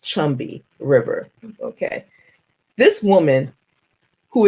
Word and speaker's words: Combahee: It looks like it should be spelled, it looks like it should be said Combahee, but it's pronounced Chumby River, okay?